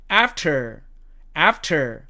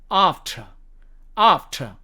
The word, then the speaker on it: after: 그 다음에 이 두 번째 단어는 미국식 발음으로는 after, 영국식 발음으로는 after. 아까 제가 영국식 발음에서는 맨 끝에 붙는 R은 발음하지 않는다고 그랬죠. 그래서 여기서도 after 이게 아니고 after 이렇게 발음이 된다는 얘기입니다.